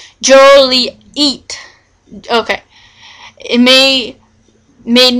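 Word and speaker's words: Joliet: the pet peeve of hearing their Town's name mispronounced Juliet when it was when all local fols were PR pronounced it Jolie eat okay it may made mispronouncing Jolly eat Jolly eat a misdemeanor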